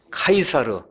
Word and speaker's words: 카이사르: 그럼 그 사람 이름이 우리가 옛날에 이제 배웠던 씨저 그래서 지금 요새 아이들 그 영어식 발음으로 하면 카이사 로 그 다음에 옛날 성경의 그걸 다만 가이사 로 아시죠 가 이사 씨 줘 카이사르 예 율리우스 카이사르 유명한 사람 아시죠 예 그